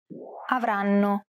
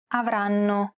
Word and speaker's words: avranno: Notice how each syllable is pronounced for roughly the same amount of time? The first N is held for roughly the same amount of time as all the other syllables.